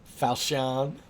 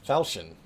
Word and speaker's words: Falchion: Falchion. Which is apparently just pronounced falchion. But I was like, Falchion? I was pronouncing it all fancy.